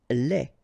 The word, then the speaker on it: lait: Lait. Un lait. Okay, so the only difference is final thing here, D, you don't pronounce it, T, you don't pronounce it, so phonetically you only have this lait.